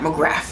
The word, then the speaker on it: McGrath: Pat McGrath. You see how I put that F in there? Because you respect on her name, McGrath. Let me say Pat McGrath. Let me say it correctly. Her makeup is absolutely phenomenal.